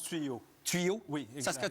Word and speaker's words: Tuot: Ça tuo tuyo tuot tuyot tuot je pense que ça se prononce tuyau.